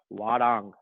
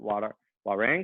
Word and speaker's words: Hwarang: So it's pronounced Hwarang, okay? Some people pronounce it Hwarang. It's kind of okay, all right? It's not wrong, but I've always gone up with Hwarang.